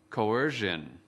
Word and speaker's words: coercion: quý vị khán giả lưu ý đọc âm ON ở cuối từ. Kính mời quý vị nghe và lặp lại. Coercion. Coercion. Kính mời quý vị khán giả tập đọc theo trọng âm của từ coercion. Từ coercion có 3 âm tiết. Trọng âm của từ coercion ở âm tiết thứ hai.